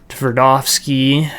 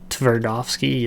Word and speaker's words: Tverdovsky: Tverdovsky, I think I said that right. Tverdovsky, it's kind of like almost a silent T in there.